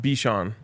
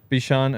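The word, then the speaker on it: B'Vsean: It's pronounced Bichon. Bichon. Oh, you don't say the V?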